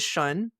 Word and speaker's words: Xun: So to do something really straightforward, if you want, you can work in the corner in the area of wealth, which is Shun.